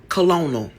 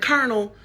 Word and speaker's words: colonel: You cannot tell my second grade year old brain that this word right here was not colonal. Colonial. Sound it out. They say I did. That didn't sound like colonel.